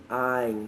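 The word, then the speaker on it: עַיִן: Então, o leitor, ele pode ter pronunciado não muito claramente o Ain, que possui um som gutural.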